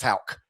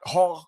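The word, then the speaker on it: Haugh: is this season's Thomas Houck. It might have taken you a little while to figure out it's Houck not Hall or whatever, but it's yeah.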